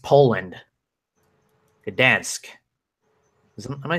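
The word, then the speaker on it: Gdańsk: Last night was UFC Fight Night 118 from Gdansk, Poland. Gdansk.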